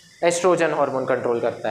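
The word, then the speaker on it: oestrogen: एस्ट्रोजन। ओ यहां पर silent होता है। एस्ट्रोजन। कभी-कभी ओ भी नहीं लिखा जाता। सीधा ई से नाम आता है।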